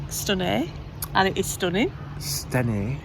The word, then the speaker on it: Stenay: Anyway, we've just had 2 nights in a lovely little town called Stenay, and it is stunning. Stenay. No, but you pronounce it Stenay.